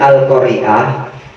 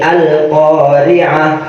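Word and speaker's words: القارعة: Nah, itu dibacanya jangan Bismillahirrahmanirrahim Al-Qari'ah. Jangan. Karena hamzah di sini bukan hamzah yang hidup, akan tetapi hamzahnya di sini hamzah wasol. Dan Al-Qari'ah ini merupakan isim. Jadi harus disambung. Bismillahirrahmanirrahim Al-Qari'ah.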